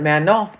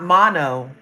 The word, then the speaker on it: Manon: The N is silent. Mano. So it's not mono. It's mano.